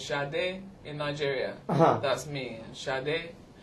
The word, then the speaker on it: Sade: How do you say Sade? Because in Argentina for us it's Sade. Yeah, Sade. And how do you It's a say? bit more, well, in Nigeria it's more like that. It's Sade in Nigeria.